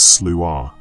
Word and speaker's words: Sluagh: And the name Sloo is no exception to this ancient principle. The word itself comes from the Scottish Gaelic pronounced roughly as Slooh.